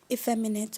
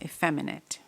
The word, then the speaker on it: effeminate: Effeminate. Am I pronouncing the word correctly? Yes, effeminate. Or effeminate. Effeminate.